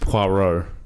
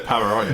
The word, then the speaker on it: Poirot: And throwback to your Knock Knock review, it's pronounced Poirot, not what period or however you said the what? I said Pavarotti.